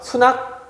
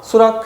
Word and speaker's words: 수락: 그래서 원래는 승낙, 낙입니다. 근데 우리가 수낙, 쾌낙, 헌낙이라고 안 하고요. 수락, 쾌락, 허락 그냥 이런 식으로 발음하게 돼요.